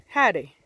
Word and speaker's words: howdy: say howdy like howdy that's not how you say it what you say is Hattie that's how you say howdy for those that don't